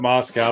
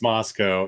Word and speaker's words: Moscow: I always pronounce it Moscow, but it's Moscow, and people correct me all the time.